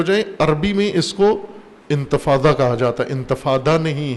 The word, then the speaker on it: انتفاضہ: یہ انتفاضہ سوم ہے، انتفاضہ جیسے یا انگلش تلفظ کے ساتھ آپ انتفاضہ کہتے ہیں، انتفاضہ ہے ضاد کے ساتھ، ظالین سے جو ضاد ہے، نہضت میں جو ہے انتفاضہ.